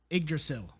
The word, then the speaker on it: Yggdrasil: I do not know how to pronounce that. Yggdrasil.